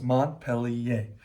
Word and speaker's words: Montpellier: this Montpellier, which I did learn how to pronounce Montpellier.